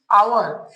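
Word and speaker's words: hour: ए इसे हम लोग क्या पढ़ेंगे आवर य साइलेंट होता है आवर पढ़ेंगे यहां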